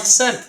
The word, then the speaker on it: scent: know how do you how do you know that the C is silent because it deres from